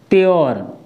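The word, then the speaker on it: pure: पहले बताया था ना अगर यू के बाद आरई यानी कहने का मतलब यू के बाद आर ई आता है तो वहां पर हम हमेशा य का उच्चारण यो से करते हैं किससे यो जैसे एस यू आर ई इसको हम क्या पढ़ेंगे श्यर क्या पढ़ेंगे श्यर पी यू आर ई इसको हम पढ़ेंगे प्योर क्या पढ़ेंगे प्योर आई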